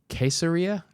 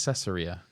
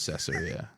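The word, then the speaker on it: Caesarea: with your sermon okay queseria I think it's cesaria did I say queseria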